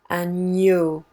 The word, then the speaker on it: agneau: GN is just like getting peanut butter off of the roof of your mouth. Ny, agneau.